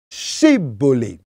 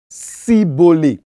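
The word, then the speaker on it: shibboleth: Et au verset 6, pour identifier les effephraémites, les Galadites demandent de prononcer le mot chibolé, hein.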